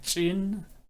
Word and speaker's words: ጭን: association with chin and chin. Chin. Chi is an explosive form of chi. So chin, English doesn't have this sound. The chi doesn't exist in English.